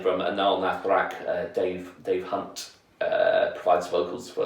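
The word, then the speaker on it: Anaal Nathrakh: And I love Anal Nathrak as well. or anal Nathrax, I used to pronounce it back in the days, but they do a real good job of blending like grindcore, industrial, and black metal.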